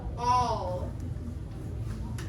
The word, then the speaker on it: all: word ball b-a-l-l but when you have an a in a double l next together the sound does not it does not sound like al it sounds like this all all so we still spell it a-l-l but it sounds like all okay yeah so i